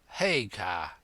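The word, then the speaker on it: Haigha: name's his name is haa he pronounced it so as to rhyme with mayor I love my love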